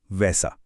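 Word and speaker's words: W: वी का उच्चारण व नहीं बल्कि फाओ होता है, एफ की तरह। डब्ल्यू का उच्चारण वे है।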